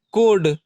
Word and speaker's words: code: जाएगा, कोड, CODE कोड, सी के बाद ओ है तो क ध्वनि।